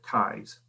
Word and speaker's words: Kees: There's sometimes confusion about the spelling and pronunciation of it, but those from Sweden spell it kees and pronounce it Kais.